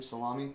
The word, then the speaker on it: Salami: That's how you say his name, Salami.